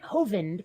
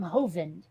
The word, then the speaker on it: Hovind: is a tendency, like, I know that Kent Hovind pronounces his name Hovind. I have never heard anyone Oh, from I know where England I know where you're going. all say Hovind. Yes. And I'm like, no, that's not how that's pronounced. Maybe if there was an E at the end of his name, but there's not.